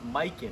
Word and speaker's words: Mikan: It's Mikan. I finally found it out. His name's Mikan. That's how you say it, and we're going to do that drill to start off.